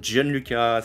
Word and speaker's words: Gianluca: Bonjour, Gianluca, c'est ça? Yes, parfait.